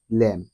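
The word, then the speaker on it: lamb: অথবা অনুচ্চারিত হিসেবে থাকে শব্দের শেষে বি এর পূর্বে এম থাকলে বি অনুচ্চারিত থাকে যেমন সি ও এম বি উচ্চারণটি হচ্ছে কম বি ও এমবি বম এল এমবি ল্যাম এখানে প্রতিটি শব্দে বি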